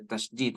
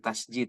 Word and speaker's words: tasydid: Ada tasydid, atau orang-orang mengatakan, orang Sunda mengatakan tasjid ya, padahal tasydid ya.